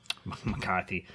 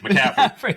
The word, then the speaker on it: McCaffrey: Kittle was out, McCarthy, CMC was out, You still don't know his name. Debo's out. Debo. Shut up, Tony. McCaffrey.